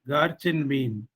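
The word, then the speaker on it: GARCH-M: Then two more very simple but highly useful models are Garchin M, Garchin mean. Is known as Garch M, to be pronounced as Garch in mean.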